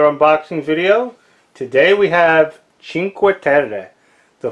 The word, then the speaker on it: Cinque Terre: Today we have Cinque Terre, the 5 Villages by Rio Grande Games. What's inside that box? Let's find out. So today we have a game called Cinque Terre, and I think I would probably be the